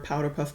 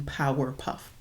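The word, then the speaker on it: Powerpuff: merch for Powderpuff Girls I never say their name right I always call them Powder Puff Girls saying it correctly sounds weird so I'm gonna keep going with powder puff but no I mean power puff um but yeah I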